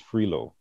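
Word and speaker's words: Frilot: But one of the vice presidents of UL or USL, Dean Patricia Cottenham, I think her maiden name is Frilo, but it's spelled F-R-I-L-O-T.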